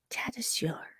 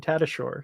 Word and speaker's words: Tattershall: awesome here's here guys here's how you pronounce his name tattershall yeah but you know typical English pronunciation as we've seen elsewhere has been tattershore so it kind of